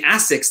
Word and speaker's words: ASICS: And so even like the CEO of Asics USA or North America will say Asics. And if I say Asics, they'll correct me, but I'm like Japanese. I'm like, it's pronounced Asics.